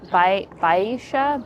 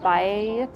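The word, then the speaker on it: Baixa: Baisha Baya B A I X A district which is where we are right now.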